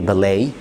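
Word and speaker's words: ballet: شويه كلمات جايه من الفرنساوي، احنا عارفين في الفرنساوي الكلام ما بتنطقش في الاخ في الاخر، زي بالي زي فلاي زي ديبري.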